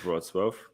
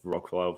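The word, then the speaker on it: Wrocław: that correct that's right the city the name of which a lot of English speakers and the foreigners cannot pronounce when they see it written it's called broadsworth but everybody Called It Rock love or whatever like they butcher it heavily basically we use two words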